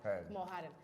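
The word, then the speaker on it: Kamal Hadden: Okay, last defensive question, Kamal Hayden. Is that how you say his name? Haden. Kamal Haden.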